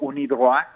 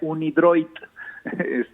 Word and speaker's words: UNIDROIT: Hay acuerdos internacionales, pero hay uno que es el acuerdo UNIDROIT, así se pronuncia en francés, pero por las siglas sería UNIDROIT, en castellanizado, digamos, ¿no?